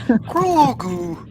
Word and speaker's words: Grogu: is Grogu.